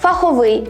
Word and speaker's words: фаховий: іменника не зберігається наприклад фах фаховий наголос на закінчення черга але черговий теж